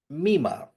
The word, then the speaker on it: Mima: also just this so This main character um Mima right or yeah that's that's how it's pronounced so she's in a J-pop group she